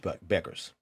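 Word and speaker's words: Bueckers: Jackson Cameron Brink and Paige Beckers is how you pronounce their last name I have a hard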